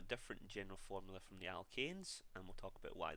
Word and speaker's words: alkanes: So it's a very, very subtle difference, and it's a slight pronunciation change as well. When it's E-N-E in this case, it's the alkenes, and the last homologous series that we looked at when it was A-N-E was the alkanes.